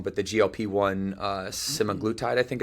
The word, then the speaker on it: semaglutide: has become popular, or correct me if I'm pronouncing this wrong, but the GLP-1 semaglutide, I think it's called?